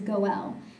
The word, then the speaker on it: goel: and an m so the word for Redeemer a singular redeemer is goel and the plural would be goel that's how they pronounce it so we can see